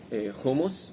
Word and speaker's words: hummus: Hamas and hummus are two different things. So before you're coming into Israel, please do your homework and work on your pronunciation, because we in Israel, we really like hummus or hummus, but we're less into Hamas.